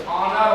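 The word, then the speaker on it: honour: इसका उच्चारण क्या होगा? ऑनर हो रहा है।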